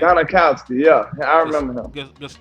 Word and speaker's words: Gostkowski: Stephen Gostkowski. How do you say his name? Gostkowski, yeah.